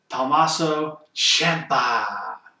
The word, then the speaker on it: Tommaso Ciampa: night up to this point Adam Cole versus thaso Champa you gotta say it like that uh this